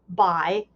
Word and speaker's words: Bhai: It's pronounced kind of like Bhai, and it means older brother.